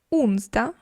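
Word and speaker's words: onsdag: забуваємо її написати але можемо забути Трошки її вимовити Так ми будемо звучати більше як швед монда тізда тізда унзда унзда четвер тужда тужда перше Ось ця літера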